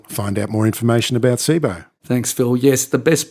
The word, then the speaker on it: Cboe: Au is the best place yeah so it's not an acronym it's pronounced Sabo as we''ve been saying